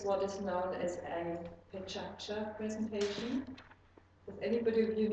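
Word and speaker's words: Pecha Kucha: why it says Pechacha, but Mizumi, am I pronouncing it right, Pechacha? Can you say it again? So it's Pechacha. It's not Pechakucha, like many people say.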